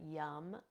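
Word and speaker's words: yam: green color and then the seed sound here is yum this one's my favorite yum y a m pronounced yum moving up into the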